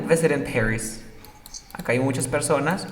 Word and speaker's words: Paris: Paris. A ver tú. Paris. Así se pronuncia París en inglés. Como Pérez, pero como gringo.